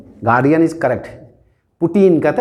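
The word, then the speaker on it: Putin: पुतिन कहते हैं ना, अभी पुतिन सब बोलता है, पुतिन हिंदी वर्ड है, पुतिन है ना, कहता है ना, प्यूटिन भी बोलता है इसको, अमेरिकन सब का प्यूटिन बोलेगा, देखोगे प्यूटिन। अमेरिकन प्रोनाउंसिएशन और ब्रिटिशर्स प्रोनाउंसिएशन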